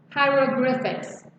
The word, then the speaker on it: hieroglyphics: Alright, so Egyptian 这个字怎么念呢？我们一起念来，high H-I-E high R-O 不要念 ra hieroglyphics here 在这里象形文字 hieroglyphics OK